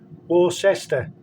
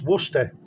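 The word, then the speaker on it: Worcester: we'll actually call a town in the county War cester which doesn't which also doesn't get pronounced as War sester it's Worster right so luckily enough I mean a lot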